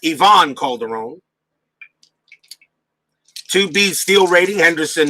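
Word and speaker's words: Iván Calderón: mariners is right fielder ivan calderon or probably pronounced yvonne calderon 2b steel rating henderson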